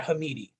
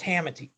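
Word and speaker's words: Hamiti: i literally asked him not hamidi okay so it's hamati so hamidi had a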